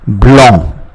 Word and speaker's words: blanc: it is called vin blanc. Vin blanc. Now, the N, the C which is preceded by N is not pronounced. So the N which comes before C is not pronounced. Therefore, we say blanc.